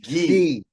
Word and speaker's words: Gui: I've been pronouncing it Guy, but is that correct? Gui. Like the uniform, Gui. Like the kimono, yeah.